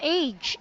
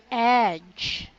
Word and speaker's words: edge: hugely yeah usually there this word is not age its edge again edge edge you're seeing age you're saying